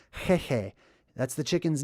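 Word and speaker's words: Heihei: So that's why in Moana, this chicken was named Hehe, like chicken, but it's pronounced in a more ancient way, the original way, which is at the level of the throat, right? Hehe.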